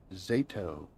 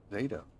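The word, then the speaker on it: Xato: X pronounced like Z. So it's Zato. Zato.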